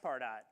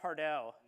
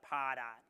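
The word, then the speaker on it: Pardot: thought it was pronounced far dot when you first heard it all right how about pardo all right that's the more sophisticated way to say it right it's like target RJ I'm waiting for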